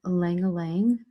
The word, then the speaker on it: ylang ylang: to move on to ylang ylang the why is pronounced silent so ylang ylang and let's tell you